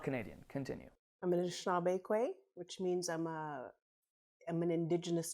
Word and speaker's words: Anishinaabe: And would you say that a lot of, and I'm sorry, tell me how to pronounce that? Anishinaabe. Anishinaabe.